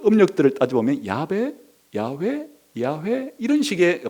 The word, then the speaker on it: 야훼: 그 음력들을 따져보면 야베 야훼 야훼 이런 식의 발음이 나와요 그러니까 아마도 원래 하나님이 모세에게 가르친 하나님의 고유한 이름이 야외 혹은 야훼 정도의 발음가가 나올 것이다 그렇게 해서 또 최근에